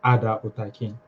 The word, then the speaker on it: Hader Otaki: Okay, the name actually, how to pronounce is Ada Otaki.